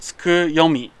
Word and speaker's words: Tsukuyomi: I always get the name wrong, but Wait, you're the CEO. How do you get the name wrong? cause I read the kanji. I can't read kanji very well, and it's like moon read. So I read it tsuki, cause tsuki also means moon, but tsuku.